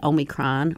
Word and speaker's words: Omicron: now we have the omicron or however you pronounce that um it's not it doesn't have an n in it by the way it's only kron oh even though i